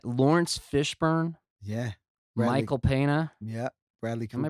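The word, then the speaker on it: Peña: Bradley, Michael Pena. Yeah. Bradley Cooper. Am I pronouncing his name right? Pena.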